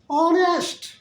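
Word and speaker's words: honest: अब एन का प्रयोग, एन का प्रयोग अब देखिए ऑनेस्ट लिखा हुआ है लेटर, लेटर है एच, प्रारंभिक लेटर है एच, लेकिन प्रोनाउंसिएशन क्या हो रहा है जी, ऑनेस्ट, ओ का हो रहा है ना।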